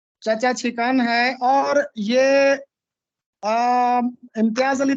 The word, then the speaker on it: چھکن: جی یہ سب سے پہلے دیکھیے، یہ لفظ ہے چچا چھکن. چھکن بھی نہیں ہے، چھکن، چاچا چھکن. چھکن جی چاچا چھکن، چھینک والا سر. چاچا چھکن ہے.